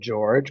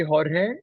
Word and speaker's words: Jorge: you say it and a lot of people don't know really how to roll their RS very well so they're always like